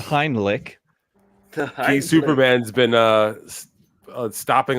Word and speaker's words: Heimlich: knows anybody know the hindlick maneuver the Hindi did you just say did Bobby Nick call it the hind lick yes that's my finishing moving wrestling Canadian pronunciation is the heinlich okay Superman's been uh